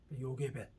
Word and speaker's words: 요게벳: 그래서 야라는 말이 게벳과 어울려 가지고 요가 돼버린 거예요. 요게벳.